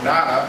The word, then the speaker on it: nona: Octa is 8, and nona or nana is 9. I've heard both pronunciations.